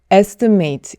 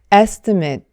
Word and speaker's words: estimate: 자, 이 단어를 견적서라고 명사로 사용할 때는 estimate 이렇게 글자 그대로 발음하면 안 되고 estimate 이렇게 끝을 mate가 아니라 met로 발음해 주셔야 합니다. 자, 이렇게 ate로 끝나는 단어들은 동사할 경우에는 글자 그대로 ate라고 발음이 되지만 형용사나 명사로 바뀔 때는 ate가 it로 바뀌어요.